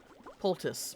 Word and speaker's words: poultice: Poultice.